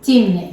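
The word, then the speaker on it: Timneh: Okay, so how do you pronounce the other one? Timney.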